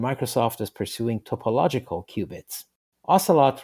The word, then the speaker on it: ocelot: is pursuing topological cubits ocelot rhymes with Camelot and Lancelot but it is a